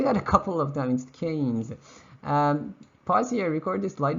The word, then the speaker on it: Keynes: That's a cane, right? That's how you pronounce it. Just make it plural, you get Keynes, right? Keynes.